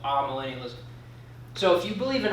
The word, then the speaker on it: amillennialism: Not amillennialism, amillennialism. I used to call it amillennialism. I thought that was how you pronounce it.